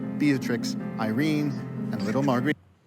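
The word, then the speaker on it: Beatrix: But I was like, if you want to know how they would be pronounced in Dutch, it would be Ulana, Batrix, and Marit.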